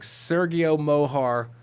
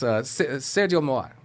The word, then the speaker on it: Sergio Mohar: I want to, and I'm going to go full gringo and just be like, Sergio Mohar is with us today. No, it's Sergio Mohar.